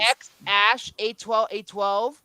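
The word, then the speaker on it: X Æ A-12: It's just a letter X, then AI, like that, like how you say the letter A, then I. So it's pronounced X Ash Right.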